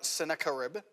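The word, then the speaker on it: Sennacherib: And as he's facing down this imminent threat from the nation of Assyria, the king of Assyria, whose name is pronounced something like Sakaribb, estimated around the time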